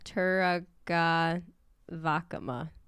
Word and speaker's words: Turaga Vakama: Yeah, Turaga Vakama. Taraga Vakama. I guess in general, you always put the emphasis on the second to last syllable.